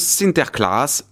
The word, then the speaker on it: Sinterklaas: Et les Hollandais furent parmi les pionniers qui colonisèrent l'Amérique, emmenant avec eux leurs croyances, dont Saint Nicolas, qui se prononce Sinterklaas en hollandais.